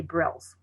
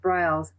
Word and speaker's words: Briles: only six letters but they often say brills so sometimes i will remind them at the top where i have my name briles i would put rhymes with smiles and then they don't